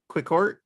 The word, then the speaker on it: Quixort: Quicksort. Yeah, Pronounced Quicksort.